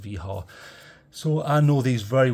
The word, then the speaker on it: Wiha: Yes, I realize it says Wiha to some people, but it is pronounced Wiha.